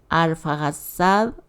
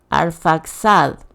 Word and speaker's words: Arfaxad: de Abraham sino el tercer hijo de shem alfad o en otra traducción dice Bueno sí casi lo pronuncié arfaxad arfaxad fue ancestro de Abraham Cómo es que